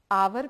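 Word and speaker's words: hour: ये बोला नहीं जाता, छोड़ दीजिए इसको. क्या बच गया? ओ यू आर. आपका प्रोनाउंसिएशन आवर भी हो सकता है, आपका प्रोनाउंसिएशन आर भी हो सकता है. दोनों ही केसेस में आवर आर. तो हम इसको बोलेंगे एन आर. बोलिए एन आर. ये एच जो है ये साइलेंट है यहां पे, मतलब आपको उसको बोलना नहीं है.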